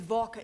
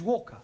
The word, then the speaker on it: Walker: more all that Mrs vka is keeping me busy Anna do this Anna do that she is a slave driver at Mrs vka Walker what w is pronounced W your employer's name is Walker yeah vka do you